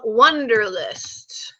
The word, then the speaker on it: Wunderlist: my phone all the time and it's called wunderlist and Wonder is spelled w you n dr li st wonderless